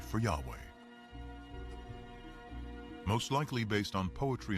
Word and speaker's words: Yahweh: knew God by his intimate personal name convention pronounced Yahweh passages with the name Yahweh which in German